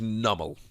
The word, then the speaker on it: Numel: can use the pre evolution incidentally the correct pronunciation is numel so you can use a double or you